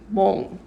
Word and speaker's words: 못: And this 못 is pronounced like 몽. When it's followed by a gyuk.